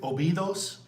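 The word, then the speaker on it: Óbidos: So, how do you pronounce all these three thing? All these things. Okay. Uh Lisbon, Obidos, uh Nazare, uh Albatasa, uh Fatima, and Kar.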